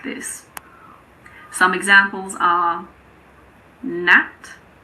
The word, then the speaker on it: gnat: Some examples are gnat, gnaw, gnome.